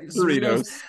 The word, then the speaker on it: Cerritos: from Bandai, because you would know how to pronounce this better than I would from California. Cerritos? Cerritos.